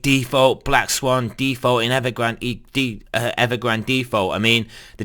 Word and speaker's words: Evergrande: And also I did notice regarding the Evergrande situation, it is Evergrande, it's not Evergrande. I don't know why people it's mainly Americans that can't pronounce anything, but yeah, it's Evergrande.